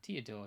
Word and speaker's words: Teodor: panel right so yeah teodore is it to your door then that's how you say it yeah to your door nine cost ice forward Dark Knight Black Mage category 11.